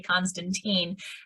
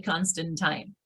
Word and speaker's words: Constantine: my name correctly because so many people look at it and say constantine and in fact it is actually constantine so as we carry